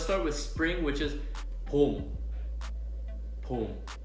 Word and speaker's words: 봄: Okay, so let's start with spring, which is pom. Pom. Okay, it's very simple, right? It's just one syllable.